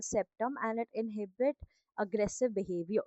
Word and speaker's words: septum: Then you have spetum. Spetum is, you can call it septum, anything you want. I just forgot the pronunciation for a while. It is called septum, and it inhibit aggressive behavior.